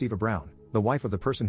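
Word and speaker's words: Eva Braun: of the historical figure Eva Brun which is pronounced Eva Brown the wife of the person who started World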